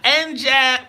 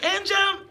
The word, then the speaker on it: Anjum: It is Anjum, yeah.